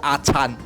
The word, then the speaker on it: Ajarn: 你要念准一点是阿灿 You need to pronounce it correctly, it’s Ajarn. 这个叫阿灿的 This is called Ajarn.